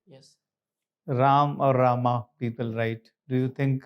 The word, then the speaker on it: Rama: So I feel Rama is the correct pronunciation, but we should be saying it Rama.